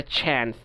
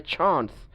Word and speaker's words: chance: there is no chance, ওরা বলবে চ্যান্স, ব্রিটিশরা বলবে চান্স।